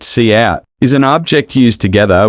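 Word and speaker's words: cout: be executed line five cap pronounced see out is an object used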